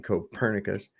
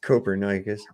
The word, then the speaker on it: Copernicus: Everybody mispronounces his name and calls him Copernicus. It's Copernicus.